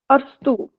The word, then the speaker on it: अरस्तु: अरस्तु, अच्छा इसकी प्रोनाउंसिएशन अरस्तु है। अरस्तु का संचार मॉडल, ये बस इंग्लिश और हिंदी में फर्क नहीं है, इसकी प्रोनाउंसिएशन अरस्तु होगी एरिस्टोटल। अरस्तु।